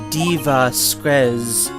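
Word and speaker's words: Dee Vasquez: which is very strange you're supposed to say it like diva spreads because her name is supposed to be a play on the word diva which is extraordinarily obtuse and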